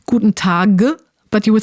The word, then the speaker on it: Guten Tag: But the idea is that if you have a b, d, or g at the end of a word, it's going to be pronounced p, t, or k. Yeah, like perhaps the most internationally famous German phrase, Guten Tag. Well, at least that's how I said it in the beginning, but in German class, I quickly learned that actually it's pronounced a bit differently.